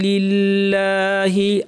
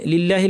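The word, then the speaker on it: لِلَّهِ: লি বলতে হবে জাহাহু লিল্লাহি আল্লাহ লাম এখানে লিল্লাহির লামটা কেন পাতলা করলাম কারণ শুরুতে জের আছে লিল্লাহি হিতে টান নাই হি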